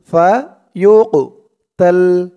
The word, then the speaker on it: فيقتل: ফি সাবিলিল্লাহি ومن يقاتل في سبيل الله فيقتل, ফায়ুকতাল, ইয়া দিয়ে কফ ধরবে। এই কফটা হচ্ছে কলকলার হরফ, ধাক্কা দিয়ে পড়তে হবে। ফায়ুকতাল ফায়ুকতাল আউ ইয়াগলিব, লিব, এই বাটাও কলকলার হরফ, ধাক্কা দিয়ে পড়তে হবে।